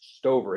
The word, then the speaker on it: Stover: Yes, and certainly, like, I guess you got a statement from, I forget the last names, right, but it's Stover is how he pronounces that, right?